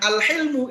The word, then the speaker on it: al-hilmu: Jadi sama-sama hak lam mim, tapi kalau bacanya al-hulmu dengan al-hilmu itu beda.